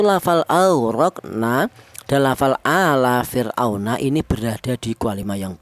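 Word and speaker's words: فِرْعَوْنَ: Kemudian di sini ada fir'auna. Ada fir di mana ra mati ini, didahului huruf yang berharokat kasroh, ini dibaca tarkik ya. Cara bacanya tipis fir ya.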